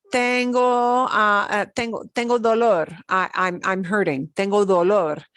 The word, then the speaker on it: dolor: But this is a very different word. It has a very different meaning. Dolor. Dolor. Dolor. Two O sounds.